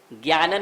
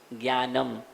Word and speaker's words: ज्ञानम: जैसे ज्ञानन नहीं बोलते हैं, ध्यानन नहीं बोलेंगे, ज्ञानम, ध्यानम, मौनम, मौनन नहीं है।